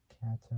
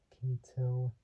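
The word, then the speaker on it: Kato: It's like saying the word Kate, but taking out the E and replacing it with an O.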